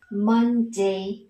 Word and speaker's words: Monday: Thế thì các con nhớ một điểm nữa cho cô, đó chính là dấu trọng âm sẽ nhấn vào âm tiết đầu tiên. Ok, Monday, very good.